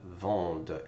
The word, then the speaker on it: vendent: Il, elle, vendent. ENT is not pronounced.